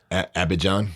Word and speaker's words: Abidjan: not to leave abdijan say that for me abby john abbott john oh yeah i was saying it